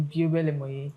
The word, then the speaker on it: Biobelemoye: It's literally pronounced the way it's spelled.